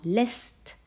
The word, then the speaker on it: lässt: Lässt. On entend une voyelle brève, car derrière, il y a deux S. Et on entend que le A est devenu E, donc il y a un umlaut.